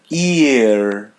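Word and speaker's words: ir: Ear. Ear. Ear. Yeah. The letter I is pronounced as E. Another R by the end it's pronounced as English R.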